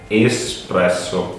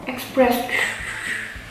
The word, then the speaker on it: espresso: So this is espresso. How you say that? Espresso. Not espresso. No. Express. No. No, without X.